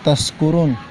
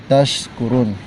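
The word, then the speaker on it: تشكرون: Jadi itu tadi, jadi la'allakum tashkurun pakai sin, maka semoga menjadi bersyukur. Bukan la'allakum tashkurun menjadi orang pemabuk, jadi mabuk, bukan bersyukur. Versinya sin itu tempat keluarnya tengah-tengah lidah ketemu dengan langit-langit atas, tashkurun. Kalau sin itu keluarnya di ujung lidah ketemu dengan gigi seri bawah.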